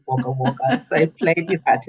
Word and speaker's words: Wagga Wagga: And so Wagga Wagga, I read it as it was Wagga Wagga, but that's Ah, not how you say it, it's Wagga Wagga.